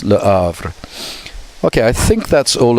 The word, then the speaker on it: Le Havre: Okay, so French often don't pronounce the H, but it's, so you would think it's Le Havre, but it's Le Havre.